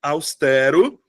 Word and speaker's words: austero: Austero. Pronto, tá aqui uma palavra que a galera tem problema. Austero. Tá? Austero. Eu tenho, de fato, 3 sílabas. Austero. Tem gente que pronuncia.